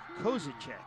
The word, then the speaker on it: Kozelchek: Let me fix a mispronunciation. The head linesman, Ernie Kozelchek. There you go. Stuck an L in there.